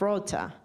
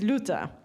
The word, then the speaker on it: Luta: luta in Japanese and so apparently Japanese cannot say luta they say something like Ruta Rutha and because Japanese cannot pronounce luta which means the friendly Island friendly Island that's why they call it coded Rota but the original name is luta I thought this is